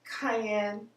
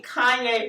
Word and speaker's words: cayenne: uh cayen Cayenne Cayenne why do I say Kanye pepper I try to say how how do you pronounce it Cayenne I believe Cayenne I mean I've always said Cayenne but I mean gosh I'm not like big wasted that sounds right though cuz it can't be Kanye it's definitely not Kanye